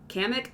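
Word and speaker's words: Kamek: Kamik. Kamik. Kamik. That's how it's pronounced.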